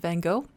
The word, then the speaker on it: Van Gogh: gone through that, but Van is more like a F sound, like Van, and Go, they pronounce it more like Ho. And so, because I'm in Canada, I'm going to say Vincent Van Gogh.